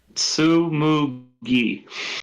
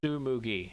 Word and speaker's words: Tsumugi: I'm not going to attempt to pronounce her name though, because I will fuck it up. Tsumugi. Tsumugi.